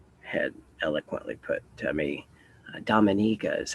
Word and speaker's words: Dominica: Dominica Dominica he had eloquently put to me Dominica is how you pronounce it where that Halo is getting really